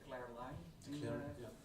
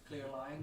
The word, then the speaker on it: clear line: and he does the Claire, how do you say it, Claire line? Clear line style, like the Hergé kind